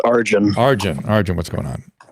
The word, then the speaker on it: Arjun: do you pronounce your name oh oh it's pronounced arjun arjun arjun what's going on um my question